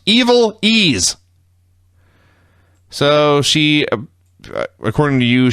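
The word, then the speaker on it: Ivelisse: names first one was eiz FES yeah pronounced evil ease so she according to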